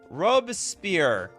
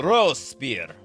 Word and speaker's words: Robespierre: The B is silent in the name. The Robespierre.